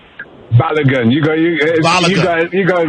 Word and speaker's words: Balogun: Balogun.